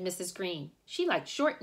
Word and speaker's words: Greene: green that's green with a silent e at the end discovered that they were